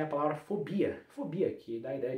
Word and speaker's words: fobia: Fobia, sílaba tônica é a primeira e o E, o O é fechado.